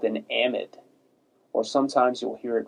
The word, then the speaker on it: amide: nitrogen containing group this is actually called an amid or sometimes you'll hear it referred to as an amide but it's amid is the way that I